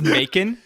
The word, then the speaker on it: Macon: Before we move, is it pronounced Macon? It's Macon. Yeah, It's bacon with I thought an it was M. Macon. No, it's Macon with a.